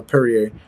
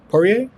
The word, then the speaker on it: Poirier: faced dustin pour uh perrier excuse me i said it wrong dustin poirier poirier poirier dustin poirier